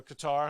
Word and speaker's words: Qatar: said about uh uh the cutter situation or Qatar however you want to pronounce it you know World